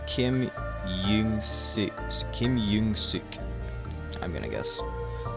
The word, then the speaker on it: Young-seok: EO is U. Which means it's Kim Young-suk.